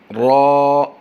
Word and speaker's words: را: ذال، را را را، رے نہیں پڑھیں گے، را را را، زا زا زا، اس